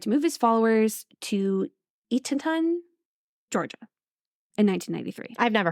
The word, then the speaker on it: Eatonton: It's Eaton, like Eaton, Ton. Eatonton.